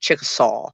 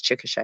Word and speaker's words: Chickasha: that it looks like chickasaw is what it looks like but it's chickasha at least that's how it's pronounced anyway and uh lawton